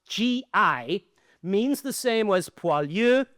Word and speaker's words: GI: This abbreviated word pronounced gi means the same as pualu in French or lanzer in German.